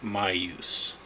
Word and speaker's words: Maius: XL my use my my use I looked up how to pronounce it it's called m-a-i-u-s and I it's pronounced my use my use or something my use it it